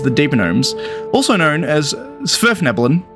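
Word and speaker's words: svirfneblin: deepenomes also known as zverf nebulon this is how you say this word by the way it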